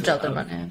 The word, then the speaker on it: Jalderman: So your coach is Jalderman, right? Is that how you say it? Jalderman? Yes, Jalderman.